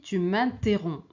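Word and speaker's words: interromps: Et ici tu m'interroms. Tu m'interroms. Il y a pas de P ni S.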